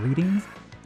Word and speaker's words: Reading: It's pronounced Reading, but yeah.